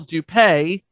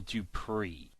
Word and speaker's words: Dupree: This was coined by Michael Dupay. Post-production correction, the name is pronounced Michael Dupree.